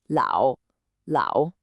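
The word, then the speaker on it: 老: It's l and it's pronounced lao.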